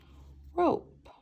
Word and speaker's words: rope: Rope. Ope. Remember that E is silent, but it makes the O long.